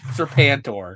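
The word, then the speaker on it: Serpentor: So, I don't think you pronounce that properly. Serpanor.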